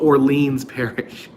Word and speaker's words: Orleans: orleans you don't you don't say new orleans like like i do you see new orleans new orleans but if you refer to the parish you call it orleans parish so you then you pronounce it like me melissa j thank you